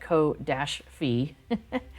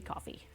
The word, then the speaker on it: Ko-fi: Yes, and B4 wants to pronounce that ko-fi, whereas I'm like, I think it's supposed to be coffee. So yes, so thank you for that link there.